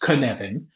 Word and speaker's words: Cynefin: way, it is pronounced Cynefin. Why is it pronounced Cynefin? Because it's Welsh. And that's all you need to know about why it's Cynefin. It is Cynefin.